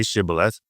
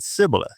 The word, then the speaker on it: Shibboleth: And when he said no, then they say to him, "Say Shibboleth," and he said Sibboleth because he couldn't pronounce it right.